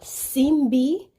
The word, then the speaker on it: Simbi: to kind of clarify the proper pronunciation of the Haitian male mermaid it is called simbi simbe so they actually have